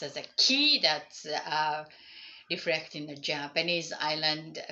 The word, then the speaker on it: 気: So that's what the idea, and it's basically sharing the same character pronounced as an ki or chi, that is as an tomato or tomato.